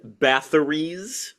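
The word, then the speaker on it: Bathory: essential 88 albums include Ba's that's a th sound just so we're clear Ba's first tentative stab at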